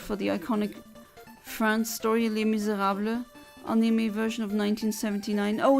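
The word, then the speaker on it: Les Misérables: And I hate it when people say Les Miserables. No, it's Les Miserables. It's not Les Miserables. That's not how you pronounce it in French.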